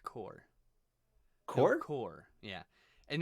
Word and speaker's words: Corps: pronounced core.